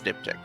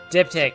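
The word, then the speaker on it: diptych: I would have to pronounce this word for you. It's It's dipick. Dip tick.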